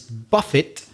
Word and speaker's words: buffet: what's the other meaning well the other pronunciation is buffett so the letters are b-u-f-e-t to buff it is to strike or